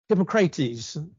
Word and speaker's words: Hippocrates: Kos was you've heard of Hippocrates. I believe that's how you pronounce his name, father of medicine.